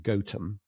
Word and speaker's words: Gotham: One is spelt the same way, but I understand it's pronounced Gotham, and it's near Ruddington, isn't it?